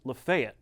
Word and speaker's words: Lafayette: Also wonder how Lafayette would feel about the way we pronounce Lefayet, the town in North Alabama.